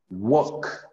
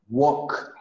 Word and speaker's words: walk: one is kind-- negative something happens here with these with the pronunciation of this verb let me see I'm gonna write here for you so that we can see so we have work walk the pronunciation is like this walk walk the same happens with talk talk the most walkie-talkies